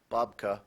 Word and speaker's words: babka: s m altruism that is correct bubka also pronounced babka Svetlana made a delicious babka for the church bake sale babka also pronounced